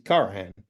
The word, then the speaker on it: Karahan: it well I mean the way that you pronounced it actually sounds more like what the Turks do than what I'm going to give which is carahan carahan um and um so